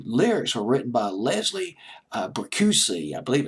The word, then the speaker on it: Bricusse: The lyrics were written by Leslie Bricusse. I believe it's Bricusse is how you pronounce his name.